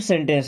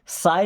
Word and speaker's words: say: से something, SAY, इसको साय नहीं पढ़ते, क्या पढ़ते हैं, से मीन्स होता है कहो, कहना।